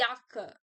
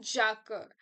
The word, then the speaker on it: Jacke: we can see nowadays so the yaka not Jacka you can simply remember it like jacket you know jacket like in German sorry in English jacket remove the T your Jacka just pronounce the J as yeah so the yaka that's